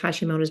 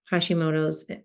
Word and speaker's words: Hashimoto's: So I had a question around women for Hashimoto's. Tell me if I'm saying it wrong too. It's Hashimoto, right? Or Yeah. there's an S on the end of it, or Yeah. Hash- Apostrophe S.